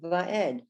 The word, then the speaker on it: va'ed: So when you have it in the last word of that line, it's va, and then the only pronouncing, of course, the the three dots, the the segol, and the dalet, va'ed.